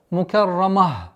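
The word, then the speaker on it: مكرمة: Ра здесь твердая. Мукаррамah. После твердого ра нужно быть внимательным, чтобы мим не произносилось твердо. Мукаррама, чтобы не было.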